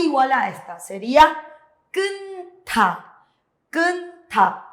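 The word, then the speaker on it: 끊다: Kunta. Suena la J se omite, pero hay un choque de sonidos. Le acompaña la siguiente sílaba y se lee kunta. Kunta.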